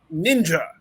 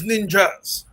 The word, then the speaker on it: ninja: It is ninja. There is no such thing as ninjas. If you say ninja, you are wrong, objectively wrong.